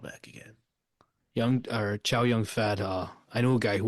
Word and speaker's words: Chow Yun Fat: Young Chow Fat. Young. Is that how you say his name? I haven't looked at his name in like 20 years. Not 20 years, like 5 years. It's Chow Yun Fat.